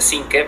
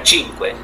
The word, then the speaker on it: Cinque: El apellido, eh, en español sí se pronuncia cinque, pero en italiano sería chinque, quea que sería cinco en italiano.